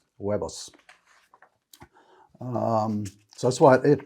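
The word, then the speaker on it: huevos: eggs so eggs webers you would never guess it from looking at the word h-e-r-v webis um so that's why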